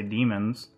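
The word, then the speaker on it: daemon: straight up called demons even though they're spelled like Damons they still say demons Matt demon yeah it's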